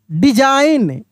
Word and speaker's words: design: DESIGN, डिजाइन, क्या पढ़ेंगे? डिजाइन, डिजाइन, ठीक ना। डिसीजन, ऐसे करके नहीं, यानी जी का उच्चारण नहीं होगा, साइलेंट रहेगा, चुप रहेगा, लिखा जाएगा लेकिन उच्चारण नहीं होगा। डिजाइन पढ़ेंगे, ठीक है।